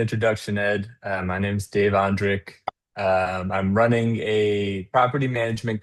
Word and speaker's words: Ondrich: It's a hard C H like Zurich or Munich. So Andrik.